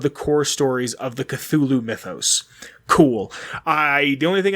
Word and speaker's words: Cthulhu: And that, Cthulhu is not how his name is really pronounced. It's the only way mortals can pronounce the name Cthulhu, which I think is super interesting.